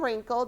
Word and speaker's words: wrinkle: And the first one is and wrinkle, W-R. And wrinkle, W-R. What letter in the sound is silent? Taylor? R. Sahana? W. Yes, all you hear is the R. The W is the one that's silent.